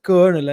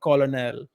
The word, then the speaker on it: Colonel: with English for example take the word Colonel c o l o n l now why is it konel and not colonal you you know you